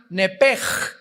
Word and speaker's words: nepesh: que al salírsele el nepesh, apúntalo ahí, el alma en el hebreo es nepesh, se pronuncia nepej, la CH en hebreo se pronuncia como J, nepesh, murió.